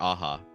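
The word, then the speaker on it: Aja: it say it again Alexander aha so not like the Steely Dan album not Asia yeah okay okay it's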